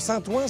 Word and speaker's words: Saint-Ouen: Alors Saint-Ouen, ça s'écrit O-U-E-N, Ouen, Ouen.